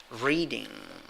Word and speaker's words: reading: The first syllable has an interesting vowel, letter E, wearing a hat. What is the pronunciation of that sound? E. That is a long stressed E, so to speak. So how do you pronounce it? Reading. The first sound, the first vowel sound, is stronger than the second one. All right, you have like a long I, no? Re, and a soft I.